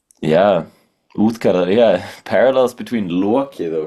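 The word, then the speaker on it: Útgarða: It says Utgard Loki, but I decided to be cool and say it like an Icelander because I am one. Yeah, Uthkara, yeah, parallels between Loki though, because Loki's more like a trickster god.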